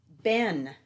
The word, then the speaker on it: been: they were all gone Ben that's the word Ben even though it has the two E's it's a short e sound have you ever been